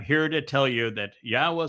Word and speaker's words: Yahweh: 1,000 other Hebrew words, the pronunciation of Yahweh is straightforward. It is irrefutable. The Yod, the He, and the Wah are all vowels.